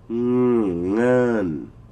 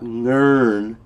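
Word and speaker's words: เงิน: Nun. Okay? Now, the way I spelt it with an R. But you don't pronounce that R. It's not ngern.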